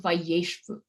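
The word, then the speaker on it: וישבו: Okay, so instead, let's say the yod didn't become absorbed. What you would have is this word va yai shabu, right? And notice how hard that's to pronounce. So as a result, it becomes kind of condensed, and it becomes vayeshvu.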